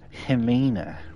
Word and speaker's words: Helena: It's pronounced Helena.